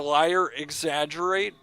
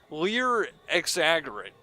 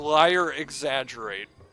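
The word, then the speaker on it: Lier X. Agerate: I didn't get that also because a liar is spelled with an e here so I thought it was like earlier Lear exaggerate and I just never understood that but it's a liar exaggerate that meter it looks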